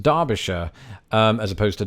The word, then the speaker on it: Derbyshire: the case of Derby there is in fact precedent going back to the 1600s of the word Derby being spelt with an A on maps as I